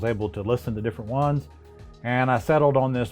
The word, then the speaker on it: onn: to listen to different ones and i settled on this budget one that's right at 50 that's called on i guess that's how you pronounce it's onn and this is the size